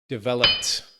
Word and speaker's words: developed: Developed. T sound.